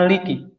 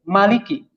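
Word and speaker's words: مالك: cara membaca Maliki ternyata ada dua versi membaca Maliki di sini ada yang memanjangkan Rukma I am Maliki dengan huruf yang panjang dengan med Hai Maliki Malikiyaumiddin tapi ternyata ada juga yang sebagian minyak membacanya pendek Maliki Malikiyaumiddin ini tidak dipanjangkan jadi kalau cuma sekalian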